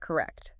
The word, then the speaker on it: correct: It has two clear syllables with the stress on the second one.